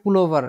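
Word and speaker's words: Pullover: বলা হয় হচ্ছে ডিয়ার পুল ওভার ডিয়ার পুল ওভার পুল ওভার পুল ওভার স্যার আর টাকে উচ্চারণ হবে না জাস্ট ইয়েটা হবে হ্যাঁ পুল ওভার একবারে আর সহ উচ্চারণ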